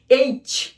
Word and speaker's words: H: এইচ এইচ, আমরা অনেক সময় এইচ বলি, এটি ছ উচ্চারণ হবে না, চ উচ্চারণ হবে। চ সুন্দর করে উচ্চারণ করতে হবে। এইচ এইচ এইচ এইচ।